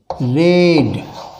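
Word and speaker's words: read: Raman रेड। Pronunciation इसका जो है रेड होगा, स्पेलिंग तो यही है।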